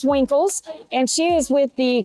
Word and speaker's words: Winkles: A lot of people get your last name wrong, but it is Winkles.